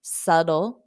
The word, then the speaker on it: subtle: so subtle subtle now you can pronounce it more of a s d so that t can become a flat T and it could sound more like a d subtle d dle d ddle subtle subtle exactly like George or Jorge wrote subtle and you got the syllable stressed right d subtle subtle subtle